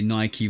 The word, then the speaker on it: Nike: Like there's a bunch of Ike words in the English language and they're all pronounced ike. like Mike Tikeke. You know what I'm saying? But Nike is the one difference that I've always known.